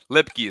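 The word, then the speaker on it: Luepke: Turpin that's tremendous by the way Hunter lipy lipy is the pronunciation but is there anybody that's doing more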